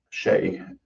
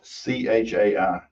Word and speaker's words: chai: Shay. Spell it. It's C H A I.